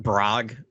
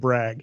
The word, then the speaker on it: Brog: Can we talk about Brog for a second? Yeah. You don't pronounce it brag.